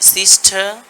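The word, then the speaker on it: sister: এখানে সিস্টার এখানে কিন্তু আর সাউন্ডটা হচ্ছে না।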